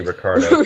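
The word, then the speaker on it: Ricciardo: to pronounce his name it's spelled riardo but they say Ricardo riardo oh and M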